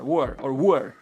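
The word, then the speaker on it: Wuher: Do you say Wucher or Wucher? I'm Polish, so I would say Wucher, but I think it's Wucher. Wuer. With a silent H.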